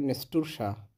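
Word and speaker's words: настурция: নেস্তুরসা, নেস্তুরসা। নাস্টারশিয়াম, উচ্চারণটা হবে নেস্টুরসা, নেস্টুরসা।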